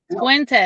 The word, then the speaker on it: Fuentes: Fuentes? Yes, Fuentes. All right. Want to make sure. Yeah, sometimes it's pronounced different.